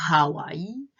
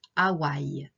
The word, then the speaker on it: Hawaï: de hawaï et tahiti en français on ne prononce pas le h alors bien sûr les personnes qui connaissent hawaii vont prononcer à warri mais les français disent hawaï et tahiti faa'a tahiti